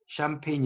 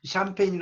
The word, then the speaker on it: champagne: 제가 2 밑에서 라도 철자가 이렇게 써요 champagne 인데 여기서 중요한 것은 씨가 발음이 안 되면 이렇게 무빙 표시해주세요 샴페인 인데 이 샴페인은 프랑스